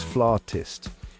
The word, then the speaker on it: flautist: Some folks go with flutist, which I gotta say kind of sounds like a made-up insult, like, oh man, you just got flutisted. But I digress. The real deal, the correct pronunciation is flautist. Emphasis on the R sound there. Now, I know what you're thinking, but trust me, it's the way the cool kids say it.